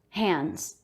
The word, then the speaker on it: hands: you said hands again d after an n before a consonant in the word hands we usually won't say that d sound hands apron scissors spatula notice